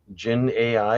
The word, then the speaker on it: Dzin AI: Somebody had asked me about something called Jin AI. It's spelled DZIN AI, and wanted to know if you guys had heard of it.